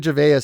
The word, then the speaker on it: Gervais: ways people say it I listened to him before I did this Ricky Gervais is how he says it but he says there are other ways pronounce it but Ricky Gervais is how he prefers it he doesn't care